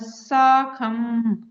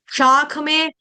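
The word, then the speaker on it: शाखम्: आप उसको बनाते साख बना देते हो। शाखा होती है ब्रांच। साख होती है लोहे की रड। कितना फर्क है? शाख में साख में और साग हो गया। पत्ते वाली सब्जी जो हम खाते हैं। मूली का साग सरसों का साग फर्क है। शाखम शाखम साखम शाखम शखम जय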